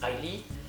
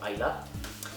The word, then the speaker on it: Islay: Si vous êtes amateur de whisky, par exemple les whiskies de l'île d'Islay, ça s'écrit Islay, I-S-L-A-Y, en français beaucoup disent Islay, les Écossais diront Islay.